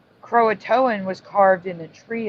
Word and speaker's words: Croatoan: Croatoan, pronounced Croatoan, is now the alternate spelling.